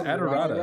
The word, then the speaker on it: Adorada: I It's not that hard, it's Adorada.